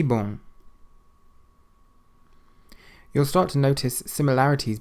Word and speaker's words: bom: Bom. Bom. It means good. Bom. You don't pronounce the M on the end of the word, but it does make what's called a nasal sound, so bom.